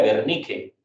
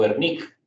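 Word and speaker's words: Wernicke: llaman mucho el área de vernique o vernic y se escribe uernique con wble u.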